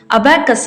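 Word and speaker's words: abaci: ಮಾಡಬೇಕು ಅನ್ನೋದನ್ನ ಇಲ್ಲಿ ತೋರಿಸಿಕೊಟ್ಟಾರ ಅಬ್ಯಾಕಸ್ ಅನ್ನ ನಾವು ಅಬ್ಯಾಕೈ ಅಂತ ಕರಿಬೇಕು ನಂತರ ಇಲ್ಲಿ ನಮಗ ಅಬ್ಯಾಕಸ್ ದು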